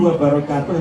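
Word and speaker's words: وبركاته: Ini wabarakatuh ini kadang-kadang ada warahmatullahi wabarakatuh. Nah ini jangan memanjangkan.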